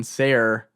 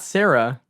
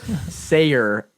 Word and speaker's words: Seyer: spelled like, and then Seyer, not Sarah. You fucking idiot. It's Seyer, Seyer, right?